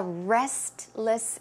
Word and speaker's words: restless: tend to be a Restless sleeper restless but if you pronounce the word a bit quickly naturally you may not hear the T so it could sound like Restless Restless a Restless sleeper basically